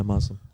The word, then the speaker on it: Muslim: That's how they say it. Muslim. Yeah, Muslim. Muslim. Muslim with a Z. Yeah, Muslim.